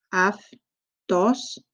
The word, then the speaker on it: αυτός: And then αυτός. So these two letters together make an af sound.